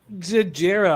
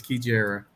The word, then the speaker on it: Kijara: right out of powers you're not pronouncing it right well how do you pronounce it um I have notes so you pronounce it hold on one second wait you took notes on how to pronounce the names it's kijara can you use it